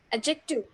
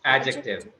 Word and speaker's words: adjective: Just skip the D. Skip the D. Adjective. It's adjective. Adjective.